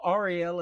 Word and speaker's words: Arielle: me that is awesome just like that uh lady in disney ariel arielle is how you say it but that is fantastic